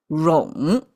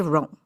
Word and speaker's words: 冗: And this one is called rong. Pronounced as rong.